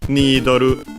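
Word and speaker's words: ニードル: Nidoru. Needle, simply with the Japanese pronunciation.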